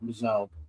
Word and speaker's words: M'Zelle: Uh M'Zelle, I think is how you pronounce his name. Yeah. Yeah. Just M apostrophe Z E L, M'Zelle.